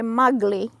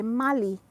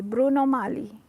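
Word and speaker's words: Bruno Magli: i you don't say mugly you say mali mali you don't pronounce the g mali bruno mali you don't say bruno magle bruno mali oh this one this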